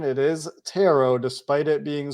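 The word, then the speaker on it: Turo: the pronunciation it is tarot despite it being spelled t-u-r-o so in case there's any confusion t-u-r-o but not pronounced like burrow with tarot you can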